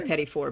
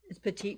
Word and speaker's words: Petite: How do you say it? Petite 4? I would say Petie 4, but it's Petite. Petite 4.